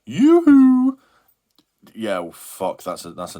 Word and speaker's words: Yoohoo: I mean, it's just pronounced Yoohoo.